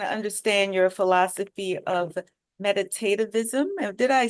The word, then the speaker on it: meditativism: Yes, I want to understand your philosophy of meditativism.